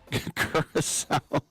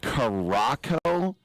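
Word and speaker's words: Curaçao: Curacao, and he said Caraco, even had the little cedilles on it.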